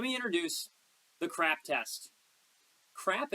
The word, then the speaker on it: CRAAP: introduce the crap test crap in this instance is spelled c AAP and it's actually an